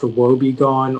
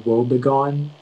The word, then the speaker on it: woebegone: Yeah, so it can be pronounced woebegone or woebegone.